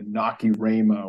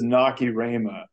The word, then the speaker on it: Nacirema: was assign you the body ritual among the Nacirema without telling you anything about it and just